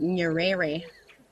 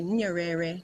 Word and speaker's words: Nyerere: in a place called nyerere No you don't say it like that you say nyerere National Park it's commonly